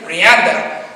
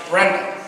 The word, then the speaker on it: Brianda: sister my sister Branda her name is brianda for the longest time I pronounced it Brenda so now when I